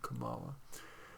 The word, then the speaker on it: Kamala: Kamala Harris, or Kamala Harris, some people are saying that we need to pronounce it Kamala, plans to roll out her economic priorities in a speech on Friday.